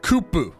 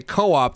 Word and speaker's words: Co-op: whenever like you're like if you talk to a japanese person you say co-op they're going to be like what are you talking about you have to say